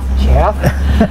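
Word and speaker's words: Geoff: It's spelled no, it's G-E-O-F-F, and they pronounce it Jeff. All right. Jeff.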